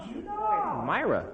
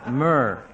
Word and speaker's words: myrrh: How do you pronounce m y r? M y rr. Myra. That's what you say in the pageant, too. What's wrong? Huh? Uh-huh. It's myrrh. Like gold, frankincense, and myrr.